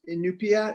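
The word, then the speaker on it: Iñupiaq: worked on that project in Alaska the correct pronunciation is in new Pia is that correct yeah mm-hmm can you talk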